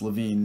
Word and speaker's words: Lewin: of the 20th century Levine pronounced Levine not Lewin was born in 1892